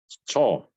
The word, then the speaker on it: 错: Nah, kalau 错 karena dia C, jadi dia ada angin ya, teman-teman ya. 错，错, 错，对, ada angin ya. H. Ada angin tuh maksudnya kita bacanya kayak tambahin H, jadi ada angin ya.